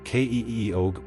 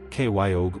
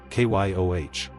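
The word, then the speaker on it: Keogh: In the US, people try to pronounce every letter and you get k eog or k y o or kio. But in common English pronunciation, it's basically one clean syllable. K yo h. Like Kio said fast as one beat.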